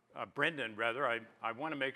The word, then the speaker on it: Brenden: our stage or our rather our title sponsor Brandon Brendon rather I want to make sure that I pronounced that correctly from now on I promise